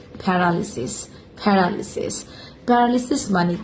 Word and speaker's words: paralysis: শব্দটা সবাই যেভাবে উচ্চারণ করে থাকে সাধারণত সেটা হলো প্যারালাইসিস। এই শব্দের সঠিক উচ্চারণ হলো প্যারালালিসিস।